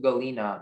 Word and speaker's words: galena: The sentence is, Sandra bought a nice specimen of cubic galena mounted on a stand. Galena. Galena. Are there any alternate pronunciation? There's just the one, galena. Okay, galena.